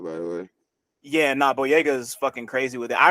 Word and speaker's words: Boyega: I Yo, watched I another so like similar sad movie to that recently with the actor John Boyega.